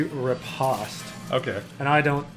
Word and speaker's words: riposte: I was pretty sure the actual pronunciation. You said it's supposed to be riposte.